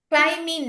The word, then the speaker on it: climbing: Climbing නෑ. මොකද B අකුර කියවෙන්නේ නෑ. හරිද? climbing. climbing නෑ. climb ඔයාලට B අකුර පේන්න තියෙනවනේ. එයා අපි ශබ්ද කරන අකුරක් නෙමේ. ඒක silent letter එකක්.